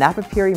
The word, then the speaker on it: Napapijri: are simply not enough remember the j is silent and napapiri means arctic polar circle